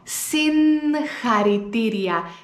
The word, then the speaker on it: συγχαρητήρια: Οπότε θα βάλω ένα νι πριν από το γάμα και θα πω συγχαρητήρια, συγχαρητήρια.